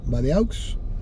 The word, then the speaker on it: Badeaux: Roberto Palazuelos Badeaux. Ahí Roberto Palazuelos Badeaux, se pronuncia Badeau, es francés.